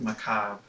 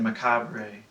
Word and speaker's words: macabre: There's no R. Macabre.